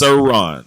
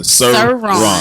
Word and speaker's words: Cerrone: It's Cerrone. That's how you pronounce it. Cerrone.